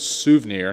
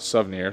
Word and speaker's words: Suvneer: are from souvenir Motorsports found out I was saying it wrong in the last video it is souvenir not souvenir so uh shame on me for saying it wrong this whole time but we have full